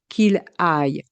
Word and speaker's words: aille: Attention à la prononciation du verbe aller. Que j'aille, que tu ailles, qu'il aille.